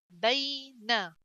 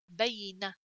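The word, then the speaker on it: بين: It's you pronounce the letter gently.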